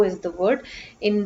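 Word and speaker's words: वह: it's written as but the pronunciation is wo for both of them so when these words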